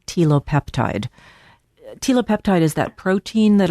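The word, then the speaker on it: telopeptide: Tilopeptide.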